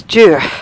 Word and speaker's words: Duart: foreign foreign foreign Castle you don't pronounce the r or the T it's jure it's a bit boggy